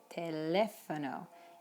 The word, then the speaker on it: teléfono: Same with telephone, teléfono. And exaggerate. Exaggerating will just help with communication. You don't sound like an idiot saying teléfono or número.